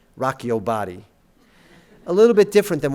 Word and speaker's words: Rock Your Body: rock your body and if we're pronouncing it with the correct diction and inflection that Justin Timberlake adopts we should say Rocko body a little bit different